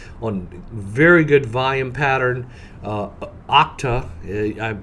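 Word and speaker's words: Okta: very good volume pattern octa I used to pronounce that hope this pronounced octal like octane they're basically in the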